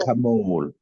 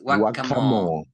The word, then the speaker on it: whack-a-mole: guacamole. Playing no Guacamole. guacamole. It's whack-a-mole. Guacamole. What is Guacamole. guacamole? This is whack-a-mole.